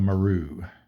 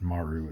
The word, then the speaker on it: Maru: And our auxiliary was the Kunikawa Maru. I've been pronouncing that incorrectly. It's not Maru, it's Maru, so we'll get that right from here on out.